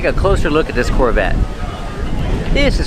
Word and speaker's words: Corvette: Corvette. The T is a stop T. The E is silent. Corvette. Corvette. Pronounces V with voice.